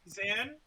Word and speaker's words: Zan: Zan. Yeah. Rhymes with Man.